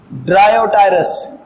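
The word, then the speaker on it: Dryopteris: ट्रीडियम, एडिएंटम, एडिएंटम, terrace, ड्रायोटायरस, ये नाम हो गए। अब देखो ये टेरस पी साइलेंट है, टेरस, ड्रायो इसमें पी साइलेंट है, टेरस, एडिएंटम और ट्रीडियम इसमें पी साइलेंट है, ट्रीडियम।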